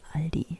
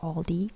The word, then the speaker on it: Aldi: be like what so the correct way to pronounce aldi is aldi and not aldi or let's go to